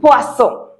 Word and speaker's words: poisson: So if you add fish to your food, that is du poisson. Du poisson. O-I in French sounds oa. Poisson.